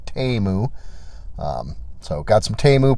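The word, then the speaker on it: Temu: items sorry TAMU uh Super Bowl commercial taught me that teu is not the way to pronounce it it's TAMU um so got some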